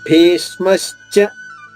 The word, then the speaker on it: భీష్మశ్చ: మళ్ళా భీ పైన ఆఘాతం ఉంది, అక్కడే దేనిపైన వస్తుంది ఆఘాతం? 2వ అక్షరం భీ పైన వస్తుంది. భీ పైన ఆఘాతం తీసుకుంటూ ష్మాలోని షా ద్విత్వం చేసుకోవాలి.